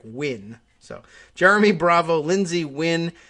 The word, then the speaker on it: Nguyen: jeremy bravo lindsey nguyen uh n-g-u-y-e-n win the uh i think one of the more common is it vietnamese surnames and i think i've learned that that's just pronounced almost exactly like win so jeremy bravo lindsay